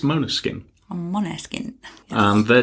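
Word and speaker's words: Måneskin: and this week it's Moana skin Manor skin or main skin depending on your pronunciation but officially It's Mona skin on mono skin um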